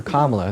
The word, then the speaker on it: Kamala: Sure, so you should vote for Kamala. That's how you pronounce her name.